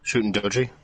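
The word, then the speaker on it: Shuten Dōji: Shootin' Doji. Shooting Doji?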